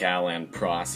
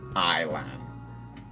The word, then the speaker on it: Alain Prost: I don't think Alain Prost is pronounced Ilan.